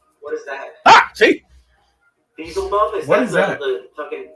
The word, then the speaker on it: Beelzebub: Beelzebub is down here right now. Yeah, actually, that's how it's Hurry.